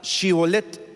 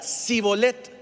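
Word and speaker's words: שִׁבֹּלֶת: 12 verso 6 dice Entonces le decían di pues palabra chibolet Pero él decía si bolette porque no podía pronunciar la correctamente Entonces le echaba mano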